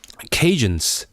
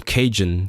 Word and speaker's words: Cajun: because the the acadians like Acadian French pronounces like Dia as a j which is also what Cornish does Cornish uh so aadan become Cajun Cajun which is very very